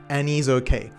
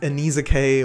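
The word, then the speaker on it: Annisokay: Next up, we have the German metal band Anise Okay. At first you might read it as Ana Kay or something like that, but it is kind of pronounced like Annie is okay.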